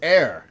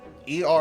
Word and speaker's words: err: as Emissary seldom ER it's air as in error E R R is pronounced a not ER if a threatens